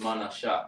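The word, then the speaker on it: מנשה: Manasseh in the Hebrew is pronounced Ma, Na, Salakia. Yeah, it's Manasha.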